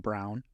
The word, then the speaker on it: Braun: a slight correction pronounced Brown is it really it is really even though it's even though it's spelled Brown yes yes it's a spelled Brown just in the German Way interesting knowing him for